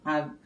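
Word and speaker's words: err: এখান থেকে আর দুইটা ওয়ার্ড মিনিং আমরা শিখবো। সেটা হচ্ছে, এটার উচ্চারণ আমরা আর হিসাবে করব।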